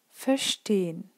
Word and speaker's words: verstehen: So, and then the same goes with prefixes, R, zer, fer, because they're kind of, you have the feeling that kind of a part of the word ends after the prefix, and this is why you don't pronounce it.